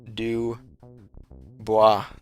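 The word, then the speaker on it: Du Bois: Coan says it's pronounced D buis. Dubois.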